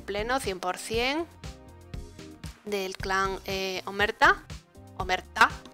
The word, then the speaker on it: Omertá: Omerta será, porque lleva acento en la A.